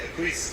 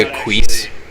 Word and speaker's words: acquiesce: so why would they acquiesce to your demands did you just say a quiz is that how he thinks that word's pronounced oh yeah when's the last